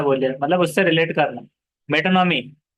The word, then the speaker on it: metonymy: मेटोनॉमी, we will swear loyalty to the crown. तो मेटोनॉमी इस तरह देखो, प्रोनाउंसिएशन कैसा है, मेटोनॉमी।